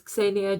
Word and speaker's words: Ksenia: So yeah, my name is Kesenya, just to once and forever solve all the difficulties.